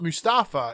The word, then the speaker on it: Mustafa: to sell someone named mustafa ali so like it's not mustafa it's now being he's he's corrected it to be mustafa which is how it's supposed to be pronounced right so mustafa ali